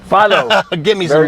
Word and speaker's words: Fillo: It's Fillo, right? Fillo. Give me some knuckles, man. Good. No one pronounces that right.